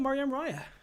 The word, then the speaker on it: Maryam Raya: tonight uh concert pianist very talented and dynamic mariam raya who's gonna join us and uh let's jump right in welcome mariam raya thank you so much thank you so much and perfect pronunciation on the first try of my name